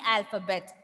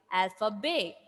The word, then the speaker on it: alphabet: Yes, that is why we are not saying alphabet. Instead, we are saying alphabet. We are not pronouncing that T.